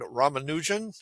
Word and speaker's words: Ramanujan: ago, I found out about a mathematician named Ramanujan, if I pronounce his name correctly.